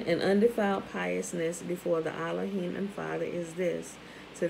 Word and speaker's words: Elohim: and undefiled piousness before allahim and the father is this remember allah is the proper pronunciation of elohim right remember there is no e in hebrew so when they when